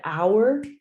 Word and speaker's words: our: We and our go together now. Our sounds like time, hour, right?